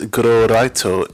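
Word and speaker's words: グローライト: This is pronounced as Glowraito in Japanese.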